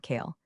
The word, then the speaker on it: Kale: a third-party consultant named Kale. Yes, with a K. And yes, he pronounced it like kale, as in the vegetable everyone pretends to like.